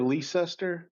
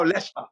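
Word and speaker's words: Leicester: Is it Lester or Leester? No, Lester. You got it right the first time. Lester Lester.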